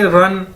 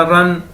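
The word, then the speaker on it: 人: और REN है हमारे पास एक चाइनीज वर्ड, इसको कैसे बोलेंगे, रन। जिस तरह हम कहते हैं दौड़ लगाना, रन।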